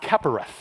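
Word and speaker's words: כפורת: idea that of an Old Testament word that's pronounced capparis and it meant the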